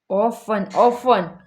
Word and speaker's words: often: रुको ऑफ 10 टी का उच्चारण हल्का. ऑफ 10 often, often, often, often.